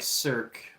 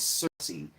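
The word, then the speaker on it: Circe: apologize I said like cir for whatever reason I said I called her cir but her name is Cersei so I want to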